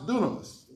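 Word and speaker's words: δύναμις: that's translated here is dynamus spelled dynamus and pronounce dunamis it's where we get the root word for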